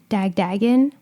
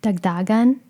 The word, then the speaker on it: Dagdagan: The American pronunciation is Dagdagan. That's how I tell people when I'm talking to customer service hotlines. And then there's a more Filipino way of saying it, which would be either Dagdagan or Dagdagan.